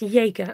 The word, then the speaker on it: Jaeger: Pronounced Jaeger. Oh, like as in Jaeger bombs.